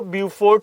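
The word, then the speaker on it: Beaufort: है तीसरा लिख लो ब्यूफोर्ट C view you फोर्ट सी बी ई A spelling लिखूं बी ई ए यू एफ ओ आर टी ब्यूफोर्ट ब्यूफोर्ट सी ब्यूफोर्ट सी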